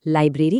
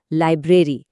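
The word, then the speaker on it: library: हिंदी में हम भले ही इसे लाइब्रेरी कह देते हैं, लेकिन इंग्लिश में इसकी सही आवाज है लाइब्रेरी। बीच वाले र पर ध्यान देना है।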